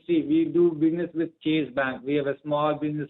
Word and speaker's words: Chase: Ma'am, I'm talking about Chase Bank. It's Chase Bank. Okay, I think you pronounced Chase. It sounded like cheese.